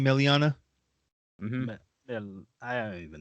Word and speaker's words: Melania: I'm telling you, how you say her name, Meliana? Mm-hmm. Yeah, I don't even know. Mel. Melania.